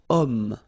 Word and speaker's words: homme: Remember, H is not pronounced, okay? So you've got the sound of O at the beginning of this word, okay?